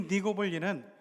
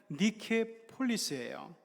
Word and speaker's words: 니케폴리스: 그런데 이 니고볼리는 원래 발음 그대로 하면은 니케폴리스예요.